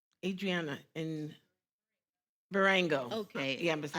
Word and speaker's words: Berengo: Bergano? Adriana in Barango.